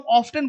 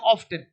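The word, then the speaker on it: often: मी list listen बहुत लोगों को देखा हूं ऑफ्टेन बोलते हैं ऑफेन या ऑफेन ऑफन तो लिसन है ना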